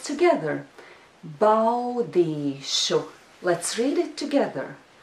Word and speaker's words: Baudīšu: There is a diphthong au in this syllable. Bau. Bau. Do you think you can pronounce it together with me? Let's try. Bow. Let's do it again.